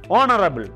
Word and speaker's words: honorable: There are some cases, for example, it begins with the H letter and honorable. The pronunciation is O, honorable.